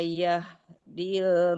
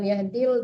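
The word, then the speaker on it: يهدي: ladzi ya'idukum innallaha la yahdil man huwa Kenapa, Bu? Yahdi, bukan yahdil tapi yahdi, panjang dinya, ada ya mati di depan.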